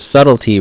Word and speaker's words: subtlety: this word was pronounced it is spelled really weird for how it's pronounced but subtlety Rogues um again trickster